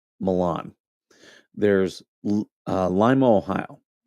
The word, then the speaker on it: Lima: There's uh Limo, Ohio, which is spelled like Lima, Peru.